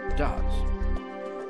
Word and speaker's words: does: À la troisième personne du singulier, pour exprimer la négation, on ajoute un S à do, qui se prononce does.